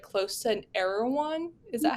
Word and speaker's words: Erewhon: that your office was like close to an Erewhon. Is that how you say it? Erewhon?